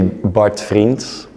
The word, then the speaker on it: Bart Vriends: So it's actually Bart Vriends.